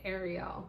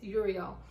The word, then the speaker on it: Uriel: I always want to say Ariel, but it's Uriel.